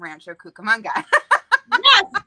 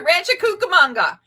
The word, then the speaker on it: Rancho Cucamonga: always say that wrong rancho rancho cucamonga is that did i say it right you said it just exactly as you would say it if you're from rancho cucamonga yes so there you